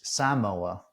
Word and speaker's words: Samoa: I also learned that it is Samoa correct that's okay all right emphasis on the first a there's going to be